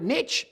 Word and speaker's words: niche: you call it niche he's because when you find your niche it rhymes with rich so i've got to